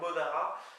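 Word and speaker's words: mont a ra: de d moi personn je préfère monara qui s'écrit MT espace a espace r mais qui se prononce comme monara comm comme mot oui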